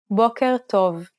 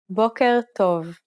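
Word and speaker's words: בוקר טוב: Many learners often struggle with this simple phrase because there's a growling R-like sound that is unusual for many speakers. Try pronouncing it again. Boker tov.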